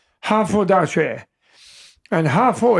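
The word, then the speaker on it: 哈佛: And Hafo is phonetic for Harvard, 2 syllables.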